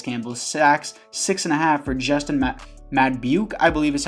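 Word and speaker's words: Madubuike: Sacks 6.5 for Justin Madbuke, I believe is how you pronounce it.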